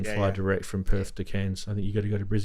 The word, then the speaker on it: Cairns: Cairns? Cans. Yeah, like I've now got family in Cairns. what you get your peaches out of, I mate. know. That thing. That's how you pronounce it.